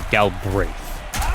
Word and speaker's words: Galbraith: And I know I've been mispronouncing left and right, but Galbraith, the way you pronounce things, but his name is actually Galbraith.